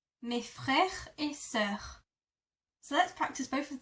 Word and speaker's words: sœur: E that are attached, this is how you pronounce it. So my sister is ma sœur. Ma sœur. Ma sœur.